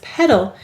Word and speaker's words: petal: syllable let's read it notice you hear a schwa sound here any vowel may say uh or it in an unstressed syllable also there's something kind